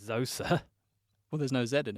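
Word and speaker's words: Djoser: as zza or yoza he's actually spelled with a d at the front but it's it's silent D and sometimes it's a silent J as well is it if it's zosa well there's no Zed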